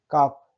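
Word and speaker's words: calf: काफ, L silent है।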